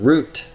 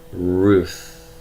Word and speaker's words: Ruth: means plus line and I'm gonna pronounce this as not root but Ruth Ruth and that the woman